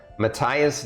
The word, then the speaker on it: Matthias: ready yeah all right the first one is Matthias Jackson it's spelled m-a-t-h-i-a-s like Matthias uh and Jackson is